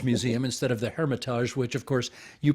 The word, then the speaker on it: Hermitage: I just shown what a Philistine I am by calling it the Hermitage Museum instead of the Hermitage, which of course you pronounce properly.